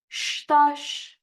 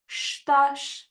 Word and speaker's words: estás: Como estás? Como estás? As you notice, any word in Portuguese that ends with S, we pronounce the S as a sh sound.